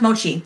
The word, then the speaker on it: mochi: it's a cow mochi mochi this is it's pronounced mochi that's how she okay okay okay I know